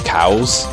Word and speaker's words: Chaos: in general uh in in the Japanese version they pre they pronounce chaos as cows yeah I guess